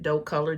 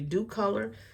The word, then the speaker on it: Docolor: You guys might say Doe Color because at first I was pronouncing it Doe Color, DOCOLOR, but it's actually Dew Color.